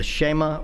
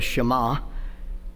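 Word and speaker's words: Shema: in Deuteronomy chapter 6 I have heard this pronounced the sheema or the shama that's the very first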